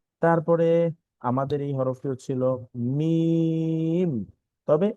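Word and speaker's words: ميم: থেকে, অর্থাৎ স্বাভাবিকভাবে বা, কিন্তু মিমের ক্ষেত্রে কিন্তু এরকম না। মিমের ক্ষেত্রে আমরা একটু দুই ঠোঁট চাপ দিয়ে মিম, মিম। যদি আমি আরেকবার বলি মিম।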